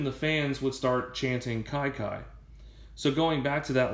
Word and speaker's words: Kiki: given his nickname so a lot of people think his nickname is pronounced Kiki but it is actually kaikai and there are two